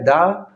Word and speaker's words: the: द को जो है द का उच्चारण जो है द THE, इसका दो उच्चारण होता है, एक द होता है, एक दी होता है, याद रखिएगा।